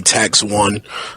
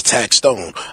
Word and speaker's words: Taxstone: I mean a lot of people call me tax one taxone you know what I mean my name is taxstone I actually don't care what you call me